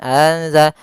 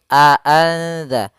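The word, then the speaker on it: أأنذرتهم: Kemudian pada lafal a'anza, di sini harus jelas suara hamzanya, jangan anza tapi a'anza, jelas.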